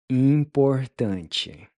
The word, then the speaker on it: importante: Importante. Importante. Importante. Importante, important. So the last syllable is pronounced chi.